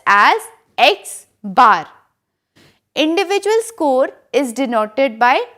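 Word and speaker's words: X̄: is represented by capital X and it is pronounced as X bar individual score is denoted by small X total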